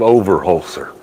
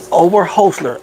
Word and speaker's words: Overholser: Okay, it's called Overholser. Overholser. Yep, four syllables, Overholser. Yep. Overholser.